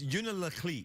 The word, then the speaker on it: Unalakleet: It's Unalakleet. It's Unalakleet, but then no one, like if you're local, you don't say that. You leave out a syllable. It's So you just say Unalakleet. Unalakleet.